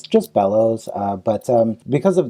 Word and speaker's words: Belous: uh you know my last name yeah it's bellows so uh it's b-e-l-o-u-s but uh i like to tell people that pretend there's an extra l and